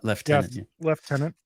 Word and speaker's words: lieutenant: she said that well she does pronounce Lieutenant differently so really weird left tenant I noticed I think